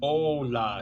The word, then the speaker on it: Ola: um abv and it says here it says oh la is how you pronounce it o h uh dash l a